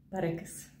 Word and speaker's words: перекис: Усім привіт Так це знову наголос Отже 4 слова перекис перепис перепад але переляк якщо у вас цікавить чому